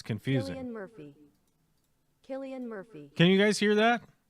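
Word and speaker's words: Cillian Murphy: uh what is it how do you say his name Killian Murphy is that right yes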